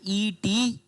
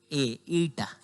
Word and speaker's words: eta: और अगर इसको सही प्रोनाउंसिएशन देखना चाहते हो तो वो होता है ETA, ईटा। ईटा पढ़ सकते हैं आप इसको, ठीक है।